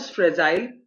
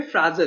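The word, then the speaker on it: fragile: इसकी प्रोनाउंसिएशन दो तरह से होते हैं, एक बोलते हैं फ्रेजाइल, और अमेरिकन में इसको बोलते हैं फ्राजल। ठीक है। तो दोनों तरह से इसका प्रोनाउंसिएशन होता है, आपको जो भी सुटेबल लगे आप इसको वैसे बोल सकते हैं। आप इसको फ्रेजाइल भी बोल सकते हो और फ्राजल भी बोल सकते हैं।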